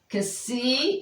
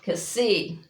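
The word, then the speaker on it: ξι: So Kasi, okay, it's pronounced as in box, not like X as an X-ray, so it's box.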